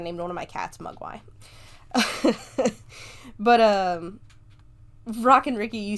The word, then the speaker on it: Mogwai: I mean, pronunciation is a long O, not a short U. Mogwai. Mogwai, yeah. Mogwai. No, long O. Mugwai?